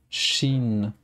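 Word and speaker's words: ش: Shin. Très bien. Alors, cette lettre s'écrit de cette manière. Et c'est l'équivalent de CH en français.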